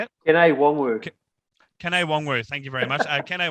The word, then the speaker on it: Kene Nwangwu: Kene Nwangwu, thank you very much.